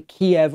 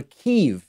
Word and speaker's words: Kyiv: Wednesday, he went to Kiev, or Kyiv, as we are now told is the Ukrainian pronunciation.